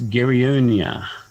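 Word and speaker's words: Geronia: some sort not a teenager oh that that's gary onia uh can i spell that g-e-r-o-n-i-a it's a tracking medusa uh most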